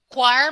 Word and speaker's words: choir: For example, mula ko diri, choir must always rhyme with wire. Must always man siya, meaning dapat per me. So, pareha dapat ila pag-pronounce. Kung mula ko diri, weir, dili na. Liar, dili na.